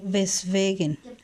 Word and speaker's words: weswegen: Weswegen. Weswegen o weshalb. Todas estas palabras empiezan con la letra W, la cual se pronuncia como si fuera una V.